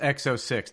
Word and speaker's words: XO6: It is pronounced XO6 definitively, by the way.